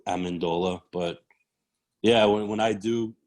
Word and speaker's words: Amendola: like that speak fluent you would pronounce my name amendola amanda okay and that kind of got lost to amendola but yeah when i